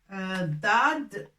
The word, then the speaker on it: ضاد: Dad, c'est un D si on veut, mais bien large. On prend Dad, on ouvre un petit peu bien la bouche pour la prononcer. C'est pas comme D en français.